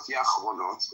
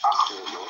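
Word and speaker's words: אחרונות: So, first of all, Rabbi, it's Yediot Achronot. It means latest news. Please let me speak. It's not Yachronot, okay? It's Achronot with an Aleph at the beginning.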